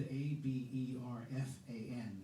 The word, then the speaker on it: Aberfan: can just look it up it's it's spelled a b e r f a n that's pronounced aberfan and you'll see the photos from